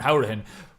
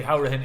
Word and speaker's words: Hourihane: who was a minute George was once again pronouncing his name wrong but I think it's safe to say how written is the pronunciation that we want Dona West car I